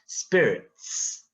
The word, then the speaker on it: spirits: 맨 끝에 이제 T와 S 발음은 치읓 발음이 아니라 멈춤 쌍시읒 아시죠? spirits 이렇게 발음해야 됩니다.